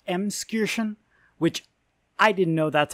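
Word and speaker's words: Emskirchen: used to live in a small village named emskirken in franconia by editing noble here it's actually pronounced mskirschen which i didn't know that's how it's it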